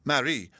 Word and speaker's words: Marie: There was not much to move: herself, her one trunk, and Marie, a black attendant whose name probably began life as Maria, since the accent still dwelt on the curtailed last syllable.